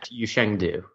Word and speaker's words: Yushang Du: from sub 4 so but this solve that you Shang do is that how you pronounce his name yeah you Shang do he had a double X cross and then